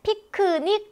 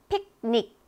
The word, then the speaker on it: picnic: 네, 피크닉 하지만 실제로 발음이 어떻게 된다고요? 픽닉. 그래서 이렇게 파열음 같은 것들이 음절의 끝에 오게 되면 소리가 잘 나지 않게 된다.